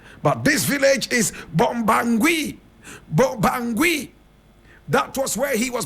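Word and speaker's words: Bobangui: And he was the village chief of a place called Bombangui. Bombangui. Bombangui is spelled B-O-B-A-N-G-U-I.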